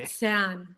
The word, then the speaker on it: Luzern: Luzern, mit Z, mit Z.